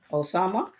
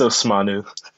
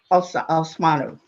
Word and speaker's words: Osmanu: at Large Laurie Sweet, Council Osama, right? Am I pronouncing them correctly? Excuse me if I don't. Yeah, it's Osmanu. Osmanu.